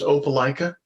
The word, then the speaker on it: Opelika: enough for this interview pronounced Opelika did I get that you did it right look at him yeah